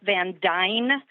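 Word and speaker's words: Van Duyne: Yeah, the mayor's name is Beth Van Dyne, is the way you pronounce it.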